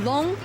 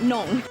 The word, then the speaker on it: Longtang: So this is the character for the long in Longtang, and it's a bit confusing because this character can also be pronounced nong. So just keep in mind it's long, not nong.